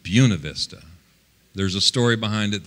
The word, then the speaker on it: Buena Vista: By the way, it's pronounced Buena Vista, not Buena Vista. Jeez. Buena Vista is how you're supposed to pronounce it. But the locals pronounce it Buena Vista.